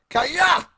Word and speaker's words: Kaya: Sorry. Kaya. That's how you got to say his name.